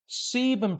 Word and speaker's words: sebum: of testosterone can increase sebum production. Let me spell that. S E B U M. Sebum, not semen.